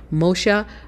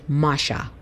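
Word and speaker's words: משה: It's the same Hebrew letters as the word Moses or Moshe in Hebrew, but it's pronounced a little differently. So I had been pronouncing it Moshe, but properly rendered, it's more likely Masha in the Paleo Hebrew.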